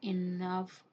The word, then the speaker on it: enough: The word enough is pronounced rhyme with the word puff.